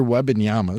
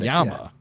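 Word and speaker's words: Wembanyama: Victor Webbyama star. Glad you said that first. Now I know how to say it. Star play. Well, it is kind of like how it's spelled. Wetyama.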